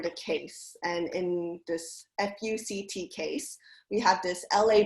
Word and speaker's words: FUCT: they were able to argue that we are pronounced fuct and this is our first amendment right you